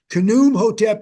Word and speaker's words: Khnum Hotep: So that's Khnum Hotep, and you pronounce every letter there in the Egyptian text.